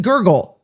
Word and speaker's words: Gergel: But this case got assigned to Judge Gergel, Gergel. I don't know how else you would pronounce that. I would try to go with Gergel, but it's Gergel. It's just, that's how it's spelled.